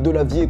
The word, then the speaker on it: Delavier: sa chaîne youtube frédéric delavier comme ça se prononce delavier d eux l abbaye 1er frédéric comme le